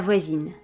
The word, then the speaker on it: voisine: Basically, the E is not pronounced, but the consonant before it is going to be pronounced whereas it is silent in the masculine form. For example, le voisin, la voisine, neighbor, l'étudiant, l'étudiante, student.